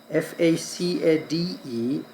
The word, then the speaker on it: facade: F A C A D E is pronounced as facade not packet.